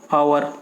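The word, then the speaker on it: hour: जैसे एन आवर, तो एच को ना, इसको एच ओ यू आर को हावर ना पढ़ के आवर बोलते हैं, तो एन आवर।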